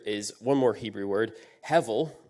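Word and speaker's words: hevel: one more Hebrew word heavil it's got a B in the middle but it's pronounced like a V it's very similar to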